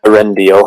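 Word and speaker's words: Eärendil: the master palen arendal I'll correct the spelling of that here for you it's spelled e a r e n d i l arendal has is watching the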